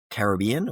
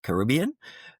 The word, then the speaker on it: Caribbean: but also looking at more destinations in the Caribbean or Caribbean, depending on how you pronounce it, such as Puerto Rico,